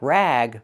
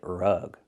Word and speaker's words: rug: Use a short uh sound like cup and up. R-rug, not rag, but rug.